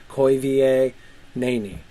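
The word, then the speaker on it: Koivienéni: Koi va nani. The E would be pronounced A, and it's got an accent there, so you know it's a long vowel and not a short vowel, so it's not nini.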